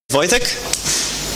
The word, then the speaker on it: Wojtek: Wojtek. That's how you pronounce my name. I don't know what these letters are, but that's the phonetic pronunciation.